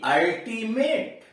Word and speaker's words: ultimate: ऐसा शब्द आया है, जब किसी शब्द के शुरू में यू हो तो इसका उच्चारण अ होता है। कर कोई ऐसा शब्द है जिसके शुरुआत में ही यू आया हो तो इसका उच्चारण अ होता है। जैसे ULTIMATE, अल्टीमेट। जैसे ULTIMATE, यहां यू क्या है?